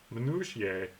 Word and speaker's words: minutiae: day we did the minutiae minutia minutiae I know that's how it's pronounced I just don't know